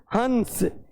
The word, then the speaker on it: हंस: ऊपर वाला जो शब्द लिखा है जिसके ऊपर मैंने केवल अनुस्वार का प्रयोग किया है उसका उच्चारण कैसे करेंगे? हंस।